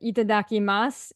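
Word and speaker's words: いただきます: you you call it itadaki Mas is that it and you said it perfectly oh good and um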